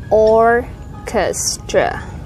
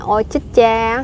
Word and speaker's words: orchestra: CH của mình sẽ đọc âm ca thì mình sẽ đọc là orchestra. Orchestra. Orchestra. Orchestra. Âm thứ hai không nhấn thì các bạn thấy nó đổi về âm ơ.